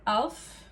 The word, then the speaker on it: alv: It's either Alf or Alv.